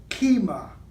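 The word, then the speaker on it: כימה: Taurus the Bull and in the Hebrew it's pronounced kima kima and it means in the Hebrew pictographs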